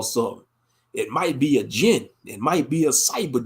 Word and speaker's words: jinn: Angels created from the divine light, the jinn created from the smokeless fire, and you got the humans created from dirt, all the clay, Oh yeah, a spiritual jinn.